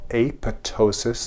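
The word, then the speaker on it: apoptosis: in a process called aptosis. The P is silent.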